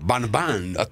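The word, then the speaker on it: Van Van: Banban. What's the name? V, they pronounce something between V and B. Closer B. Los Banban.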